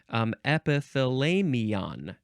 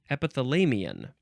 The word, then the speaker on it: epithalamion: You can also spell it with an O-N at the end. That's different. Epithalamion. Epithalamion.